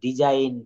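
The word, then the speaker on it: design: আইন রিজ আইন অর্থাৎ ডিজাইন রিজাইন এটা কিভাবে হবে শব্দের শেষে ওয়ার্ডের শেষে জি এন থাকলে তার উচ্চারণ আইন হয়ে যায় অর্থাৎ উচ্চারণটা আসবে আইন এক্ষেত্রে জি অনুচ্চারিত থাকে যেমন দেখেন এখানে প্রথমে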